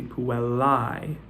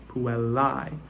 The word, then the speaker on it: puellae: The A-E diphthong is pronounced I, right?